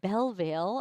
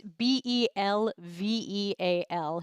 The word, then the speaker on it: Belveal: Roger Belvale. I've always pronounced his name badly, but it's Belveal.